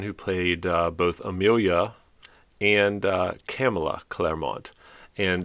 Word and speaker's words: Camila: played both amelia and camila claremont and it's interesting to note that the script specifically states that uh campbell's name is pronounced pamela with a c but uh deborah uh